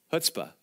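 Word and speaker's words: chutzpah: of hutzpah right now that's spelled with a CH by the way hutzpah and uh I remember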